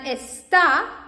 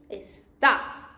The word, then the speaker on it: está: And está, like this, is, she is, he is, está, because it has this accent, and when you pronounce it, you can see está. But esta, like this one, like here, it means that, like means this one, esta, this one, esta.